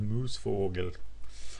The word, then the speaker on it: Moosevogel: I would pronounce that Moosevogel, as I actually took 5 years of German.